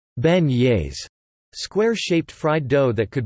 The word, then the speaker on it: beignets: New Orleans is known for specialties including beignets, locally pronounced like beignets.